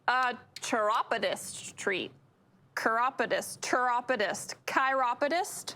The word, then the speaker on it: chiropodist: chiropodist treat chiropodist tropidis chiropodist how do you spell it c-h-i-r-o-p-o-d-i-s so if you think like chiropractor chiropodist yeah um what does